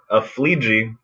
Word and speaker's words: Aflleje: your last name yeah it would be a flea ji which is strange because if you say it right you're saying it wrong so yeah my guess